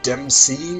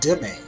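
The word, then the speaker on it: demesne: this is domain size it's not pronounced uh dem seen even though it looks that way and it's not actually pronounced in domain either it's dimming french word and that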